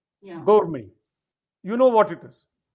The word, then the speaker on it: gourmet: gourmet. Perfectly correct. T is silent. Yeah. Gourmet.